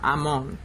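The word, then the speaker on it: Amon: Ammon is really how I should pronounce it.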